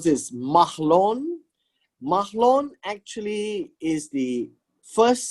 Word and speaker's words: Mahlon: sons named mach loan now how do you pronounce this mahlon mahlon actually is the first son and the